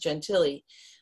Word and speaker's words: Gentile: her last name was gentile g-e-n-t-i-l-e we we pronounced gentilly um and those of you are familiar with